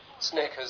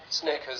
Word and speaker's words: Snickers: Snickers, sneakers. Snickers, sneakers. Snickers, sneakers.